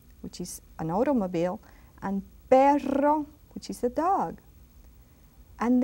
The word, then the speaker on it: perro: R, when it's double R, you say carro, which is an automobile, and perro, which is a dog.